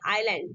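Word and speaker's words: island: एक एग्जांपल है आपके लिए, आई एस एल ए एन। देखिए यहाँ पे क्या हुआ, एस से पहले क्या है, आई आया, तो एस आपका साइलेंट रहेगा, तो इसको हम क्या पढ़ेंगे, आइलैंड।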